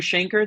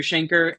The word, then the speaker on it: Shainker: type in Google Shanker that's s h a i n k r uh kind of rhymes with the word Banker um Shanker and uh you can